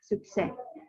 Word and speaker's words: succès: Untuk yang bagian pronunciation itu sukses, S-nya nggak dilafalkan ya, sukses.